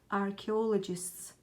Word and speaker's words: archaeologists: Archaeologists, I know that most of you will mispronounce this word. Its pronunciation is archaeologists.